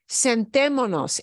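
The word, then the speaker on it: sentémonos: is sentimonos sentimonos and we have to get rid of this s right here okay otherwise it is more difficult to pronounce there's a short answer so it'll sound like this does not flow centimos flows okay so just like vamanos instead of vamosnos yeah bad for the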